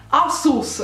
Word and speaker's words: Asus: di inculcare di testa per non sbagliare ancora asus ragazzi con l'accento sulla ru asus al marchio ragazzi che